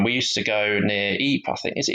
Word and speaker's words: Ypres: We used to go near Ypres. I think is it Ypres you pronounce it?